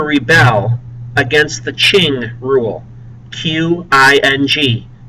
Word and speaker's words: Qing: Q-I-N-G. It's pronounced Qing, the Qing rule.